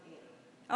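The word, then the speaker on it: Ayn: Although I was named after technically a tightened-up conservative thought, but my parents were civil rights workers, and they've always pronounced it Ann.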